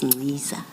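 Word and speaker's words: Nciza: And then in the spirit of the chair of corrections, you said Ngqiza. I now know it's Ngqiza. And I'm told I should spell it for the record, Ngqiza, N-C-I-Z-A.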